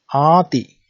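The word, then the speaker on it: āti: There are verbs ending with ati. It's a long A here.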